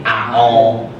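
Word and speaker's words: أعوذ بالله: Contohnya tadi a'udzubillah, bukan a'u tapi a'udzubillah. Maksudnya miring.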